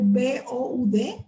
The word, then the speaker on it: Boud: Boud, por ejemplo, se escribe B-O-U-D, Boud.